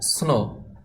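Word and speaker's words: snow: উচ্চারণ স্নো হয় তবে এখানে ডাব্লিউ যে লেটারটি আছে এই লেটারটি উচ্চারণ আসবে না কিন্তু লেখার সময় লিখতে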